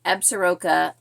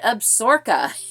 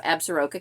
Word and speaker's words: Absaroka: And book 3, Absaroka Ambush, he could not pronounce correctly, or did not pronounce correctly, and I don't know how this got past all the producers and people, but he said Absorka.